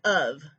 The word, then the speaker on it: of: is a reliable letter letter f can represent the phoneme v as in of one f in the